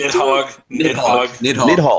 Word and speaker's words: Nidhogg: Nighty Hog. How do you pronounce Nighty Hog? Nidhogg.